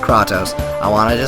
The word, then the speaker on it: Kratos: hands down it's Kratos and I know it's pronounced kraatos I wanted to say that for everyone I say it because it's funny I I know may bother you but just say Kratos because it sounds cooler and I just find